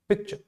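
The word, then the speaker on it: picture: जो पार्ट है आपका PIC, इस पार्ट को हम थोड़ा सा ज्यादा प्रोनाउंस करते हैं, थोड़ा सा ज्यादा स्ट्रेस करते हैं।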